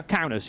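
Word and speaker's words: Kaunas: rounds at riga for instance and is it pronounced counters or yeah yeah counters yeah okay so there's a track at counters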